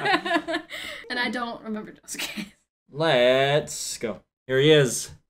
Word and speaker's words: Josuke: As I found out, people get upset with me when I pronounce it Josuke because the U is less pronounced, so it's Josuke.